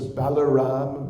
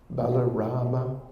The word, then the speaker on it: Balarama: one of them is Balaram balarama the brother of Krishna of course this Lord Ramachandra there's also thought Parasurama Parasurama in sanskrit pronunciation balarama so when we are